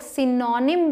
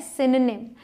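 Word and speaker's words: synonym: Next is, जिसे बहुत सारे लोग सिनोनिम बोलते हैं, जो बिल्कुल गलत है। सही प्रोनाउंसिएशन है सिनोनिम, मतलब पर्यायवाची।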